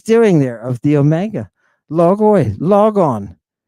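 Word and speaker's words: λόγῳ: Logoi. And I'm forcing you to pronounce this iota that is the subscript of this omega.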